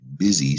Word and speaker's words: busy: This is a short I, by the way. Letter I, touching my chin. It reminds me of the short I sound.